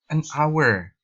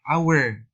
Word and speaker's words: hour: catatan Nah di sini an hour Nah di sini jangan terjebak dengan kan di sini misalnya konsonan tidak justru ketika eh membaca kata ini adalah our because the first letter is silent karena bunyi di awal